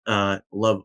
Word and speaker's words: LOVB: League One Volleyball, LOVB, or Love Volleyball as they say.